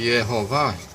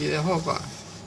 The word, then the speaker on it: Yehová: Veja que o professor de hebraico aqui, embora tenha ensinado o tetagrama para se ler Yehová, está sinalizado para se ler Yehová.